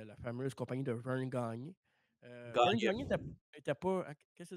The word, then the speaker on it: Gagne: Gagne. C'est pas Gagné, son nom, c'est Gagne. Gagne. C'est vrai, correct. Gagne. Vern Gagne. C'est ça. Ça se prononce Vern Gagne. Pas Gagné, Gagne.